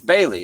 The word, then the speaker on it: Bailey: I've been saying it right the same this whole time. What? It's Bailey. It's Bailey. It looks like it's pronounced like Bale or something.